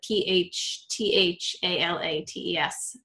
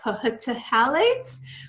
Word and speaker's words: phthalates: And that's phthalates, and it's spelled with a PHTHALATES, but pronounced. The PH is silent, so people are like, phthalates when you look at it, but it's phthalates.